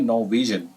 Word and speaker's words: Norwegian: तो फिर मैंने इसको प्रोनाउंसिएशन करी गूगल पे, तो इट was something like नॉर्वेजियन, are silent है, और Norwegian mathematician Niels Harris Henrik Abel recognized his lifetime achievement in mathematics।